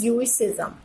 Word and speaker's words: Judaism: It's pronunciation is ज्यूइसिज्म।